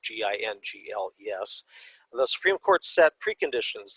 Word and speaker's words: Gingles: Jingles, I think it's pronounced Jingles, it's Gingles, the Supreme Court set preconditions that a minority